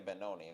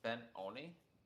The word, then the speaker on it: Benoni: Is to pronounce that as Ben-Oni? Oh. Yeah, I don't know. I just say Benoni. It's like, I don't know, it rhymes with macaroni or something, I don't know. It looks kind of Italian.